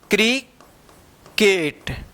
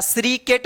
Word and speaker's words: cricket: देखिए यहां पे CRICKET, इसको क्या पढ़ेंगे, CRI से क्री, सी के बाद आर है तो क उच्चारण होगा क्री, सी के तो आई है तो के होगा ट, क्रिकेट, क्या है, क्रिकेट, क्रिकेट पढ़ेंगे इसको, क्या पढ़ेंगे, क्रिकेट, इसको श्री सेट या श्रीकेट मत पढ़िए, क्रिकेट पढ़ा जाएगा, ठीक है ना।